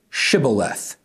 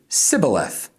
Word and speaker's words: Shibboleth: And if he said no, then they would say to him, "Then say Shibboleth." And he would say Sibboleth, for he could not pronounce it right.